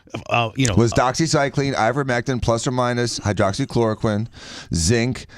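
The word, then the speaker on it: ivermectin: themsel about, hey, listen, I'm using zinc with ivymectrin. I always say it wrong. How do you say it? Ivormectin.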